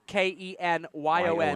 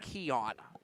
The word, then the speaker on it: Kenyon: So if you start – he's spelled Kenyon, but it's Keon. Yep. Okay, that's the correct. N is silent.